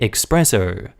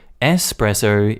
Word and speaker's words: espresso: your native language when most english speakers also say expresso espresso is italian that being said this